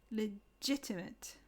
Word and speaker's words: legitimate: say vegetable and comfortable similarly there's no Kate in certificate or mate in legitimate we stress the second syllable so we say certificate and legitimate these are often mispronounced